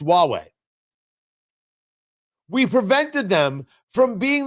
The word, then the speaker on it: Huawei: We prevented Huawei and so did the Canadians and so did the Brits from Huawei which is spelled hu a wii pronounced Huawei.